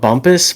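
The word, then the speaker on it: Bumpass: It's called Bumpus, but it's spelled bump ass.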